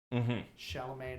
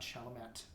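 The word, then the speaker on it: Chalamet: Shalame, not Shalomat.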